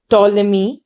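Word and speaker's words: Ptolemy: the Greek mathematician टोलमी P silent टॉलमी describe the latitude and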